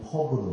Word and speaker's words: 퍽: 볼, 아이스하키는 퍽으로 해요. 근데 발음을 잘해야 됩니다. 퍽. P 발음으로 하셔야 됩니다. F로 하면 큰일 납니다.